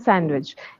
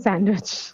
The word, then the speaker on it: sandwich: Handsome and sandwich here. D is silent. Handsome and sandwich.